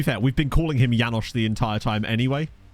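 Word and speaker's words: János: Janos well you know his name is already yanosh that would change his pronunciation okay to be fair we've been calling him yanosh the entire time anyway like so it wouldn't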